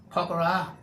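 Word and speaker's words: Pokhara: Poker pronounced like a distinctly southern draw and gooey okra yaw is chilled and peaceful almost too tranquil.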